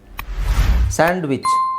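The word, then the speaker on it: sandwich: necessary handsome hedge hedge ಸ್ಯಾಂಡ್ವಿಚ್ ಸ್ಯಾಂಡ್ವಿಚ್ ಅಲ್ಲೂ ಸಹ ಡಿ ಅವಶ್ಯಕತೆ ಇಲ್ಲ ಸ್ಯಾಂಡ್ವಿಚ್ ಸ್ಯಾಂಡ್ವಿಚ್ ಸ್ಯಾಂಡ್ವಿಚ್ ಓಕೆ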